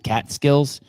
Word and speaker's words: Catskills: you how do you say the word cat cat skills that's Bobcat cat skills or with a G